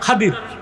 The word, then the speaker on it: খিজির: আমি কোরআন শরীফ পড়লাম খিজির বললেন বাংলা তরজমা এটাকে উচ্চারণটা খাদির এই মিয়া এই মিয়া